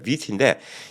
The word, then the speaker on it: Vuity: 그러니까 발음은 이제 우리 아름답다 뷰티랑 비슷한데 이제 볼 수 있는 뷰. 예, B 발음 아니야 V 발음이에요. 뷰티인데 이 뷰티라는 약이 2021년도 12월 달에 처음으로 승인이 됐습니다.